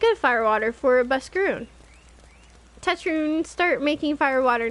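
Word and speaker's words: Buscarron: wrong if I say have I been saying buscar on it's buskaroon okay um you bring thingy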